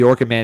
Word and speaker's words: OrchidMan: Derek Hux gave me that one because people were saying OrchidMan like the exterminator, so I had to spell it out.